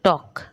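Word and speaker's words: talk: कहते हैं silent letter जैसे टॉक तो आपने देखा होगा टॉक में एल नहीं बोल रहे टलक नहीं बोल रहे है ना टॉक बोल रहे हैं तो एल क्या है साइलेंट रहेगा नो के साइलेंट क्लियर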